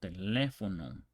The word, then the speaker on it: teléfono: It's like apostrophe. Okay, so teléfono. And that's where the accent, where the stress lands.